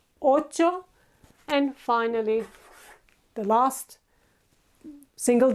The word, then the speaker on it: ocho: 8 is ocho. This is the ch sound, a very soft ch sound, ocho.